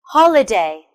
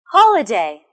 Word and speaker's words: holiday: The next word is holiday. Holiday. Can you guess where the stress is? Well done. It's on the first syllable.